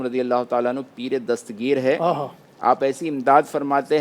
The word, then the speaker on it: دستگیر: ناظرین بھی بعض اوقات اس میں تلفظ میں لوگ غلطی کرتے ہیں، دستگیر کہتے ہیں، تے پر بھی زبر لگا دیتے ہیں، ہے اصل وہ دستگیر، دست یعنی ہاتھ اور